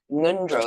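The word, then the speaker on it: ngöndro: Nundro practice starts with NG O. Nundro. It's in the back of your throat.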